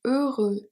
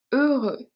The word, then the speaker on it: heureux: Heureux, we've seen this one. So the H is silent and the X is silent as well.